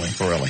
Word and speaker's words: Farrelly: Is that Farley or Farrelly? Farrelly.